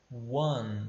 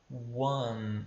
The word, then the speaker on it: one: na casa número um a gente pode ia one tá one algumas pessoas quando leio tem a pronunciar o homem como como se fosse um